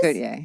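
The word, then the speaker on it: Gotye: Gautier, yeah. Gautier. Gautier. I think he's French like Jean-Paul Gaultier?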